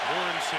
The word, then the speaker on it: Morency: Morency, the way he said he wants it pronounced, alone in the backfield.